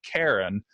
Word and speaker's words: Keren: it's just I mean the majority of people call me Karen but in White River Junction everybody cozy Chris I think I just allow anyone to pronounce it however they want because in because in Hebrew it it sounds so different anyway and even I can